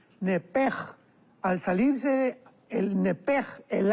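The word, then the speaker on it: נפש: porque es la palabra nepesh con sh al final. Neph. En el hebreo se pronuncia eh la sh con j. Entonces, la pronunciación hebrea es nepej.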